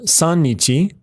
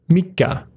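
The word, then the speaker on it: 三日: slightly irregular as well it's not San Nietzsche but rather mica in other words it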